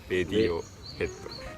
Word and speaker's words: Radiohead: It's レディオヘッド. ラジオヘッドじゃない？ Not ラジオヘッド？ラジオヘッドって言うとなんかださい。ラジオヘッド sounds lame. それは、なんか、まあ、固有名詞だからね。 It's a proper noun, so なるほど。普通はラジオだけど、Radioheadはレディオヘッド。 normally radio is ラジオ but Radiohead is レディオヘッド.